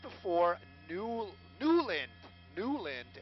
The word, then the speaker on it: Newland: right before new duelin newland as we learned is the pronunciation from one of the